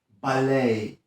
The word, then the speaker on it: ballet: Kolejne słowo wymawiane tak nieco z francuska to ballet.